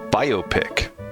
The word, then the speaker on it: biopic: it's classic it's pronounced biopic like bio pic biopic at least that